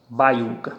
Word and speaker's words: baiuca: Baiuca, baiuca. Vejam que a tonicidade veio para o U. Então eu tenho última, penúltima. É uma palavra paroxítona.